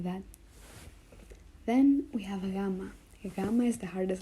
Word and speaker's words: gamma: cool things like that then we have GMA gamma is the hardest letter for English speakers to pronounce or to learn at first GMA GMA